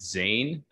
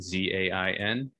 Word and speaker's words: Zain: And I'm thinking of the individual, I think his name is pronounced Zain. I could be wrong, Z-A-I-N.